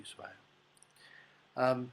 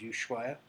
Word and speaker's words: Ushuaia: people pronounce it as Yu but it's Spanish and there's no sh in Spanish in fact the H is in Spanish is silent so it's actually USU